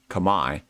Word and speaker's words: Khmer: correct them and say, did you know that Khmer is actually pronounced Kamai? And this is Kamai language.